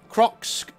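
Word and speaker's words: Kroxxc: So, Crocs says, and the name is spelled K-R-O-X-X-C. So, you know, Crocs, I guess.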